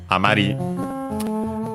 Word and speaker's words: amari: make the continuative form amari. And so should be accented on the last syllable, and it is.